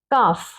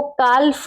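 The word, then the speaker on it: calf: अब है last F से पहले अगर एल हो तो साइलेंट होता है, काफ, सी ए एल एफ, इसको काल्फ नहीं पढ़ेंगे, काल्फ नो, इसको पढ़ेंगे काफ।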